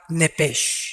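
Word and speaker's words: נפש: el origenal hebreo es la palabra nepes apúntala como suena nepes con sh se pronuncia nepe al morir algo se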